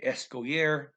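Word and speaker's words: escolher: the infinitive escalier escoire remember not to pronounce the l okay lh is the double l from spanish yeah okay escoyer the thing a koisa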